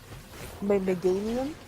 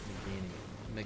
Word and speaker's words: Meganium: I always Meganium. Meganium. Okay. Why is that such a weird meanium?